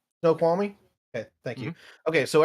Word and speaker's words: Snoqualmie: it the school Army pass how do you pronounce this one snow qualmie Snoqualmie okay thank you okay so everything basically uh